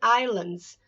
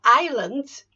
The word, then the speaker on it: islands: New Zealand and Solomon Islands so Islands you don't pronounce the S islands islands I lands